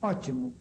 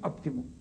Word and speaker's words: óptimo: Em Portugal, eles escrevem ótimo com P, ainda que pronunciem ótimo, não dizem óptimo.